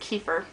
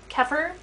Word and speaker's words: kefir: flavors so I think I think it's pronounced kefir keer kefir grammatically it should be kefir so that's what I'm